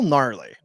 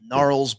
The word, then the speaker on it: gnarly: a seven-year-old that word spell gnarly why would they add a g I don't know give a 12-year-old that you'd have some problems still narl Barkley GE Gars what